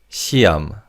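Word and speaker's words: 시험: The he in the second syllable is silent in fast speech. So it's Let's say that together. Repeat after me. Shiam.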